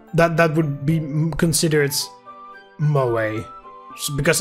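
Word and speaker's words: 萌え: be considered moe because apparently you hold the e it's mo a i guess you'll maybe pronounce it differently but according to what i read on wikipedia you the the e you hold the e it's a bit longer so there we go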